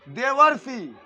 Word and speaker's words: देवर्षि: समझो, देवरोसी है, देवर्षि, देवर्षि, देवर्षि का जब तुम उच्चारण करोगे तो तुम्हारे मुंह में अपने आप स्वतः ही अर का उच्चारण होगा। बोल के देख लो, देवर्षि, देवर्षि, हर उच्चारण में अर की मात्रा का उच्चारण नजर आएगा, समझे?